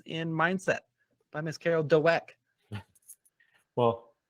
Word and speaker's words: Dweck: Explain to us what some key concepts in Mindset by Miss Carol Dweck. Well, I think it's Dweck, but that's what I said. You're overpronouncing the W. It's not Dweck.